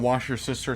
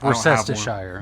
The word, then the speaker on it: Worcestershire: It's rich in that Worcester, but I don't know how to say it, but it's rich in that wash your sister sauce. It's Worcestershire. I don't understand. It's Worcestershire. You said it wrong.